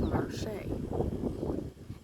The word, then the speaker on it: Marche: it's pronounced, the only way that you can pronounce it, it was spelled Marshay.